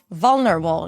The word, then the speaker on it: vulnerable: We begin with a V sound. To make the V sound, you bring the bottom lip to the top teeth.